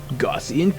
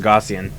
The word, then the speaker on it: Gaussian: Gaussian Coil Blaster. Gaussian. Oh. Gaussian. I always say it as Gaussian. Like degauss your monitor.